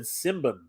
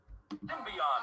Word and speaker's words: Symbion: I could have sworn the guy on TV said Simbin. I could have sworn he said the Warriors of Simbin. You know what?